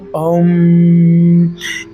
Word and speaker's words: ओम: ध्वनि का उच्चारण कि ओ एम वाला नहीं अगर आप कर सकते हैं तो ओम ये होता है ए यू एम वाला इस ध्वनि को